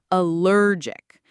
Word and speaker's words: allergic: The word is allergic. Notice the stress is on the second syllable, allergic.